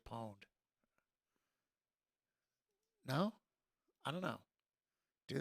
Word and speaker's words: pwned: you owned me now shouldn't you spell that with a p is that pwned or am i too old am i showing my age does anybody say pwned anymore seriously somebody somebody has to say pawned no i don't know